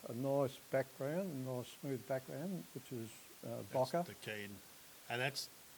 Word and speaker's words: bokeh: You create a nice background, a nice smooth background, which is bokeh. That's the key. And that's, I think that's how you oh yeah, pronounce it.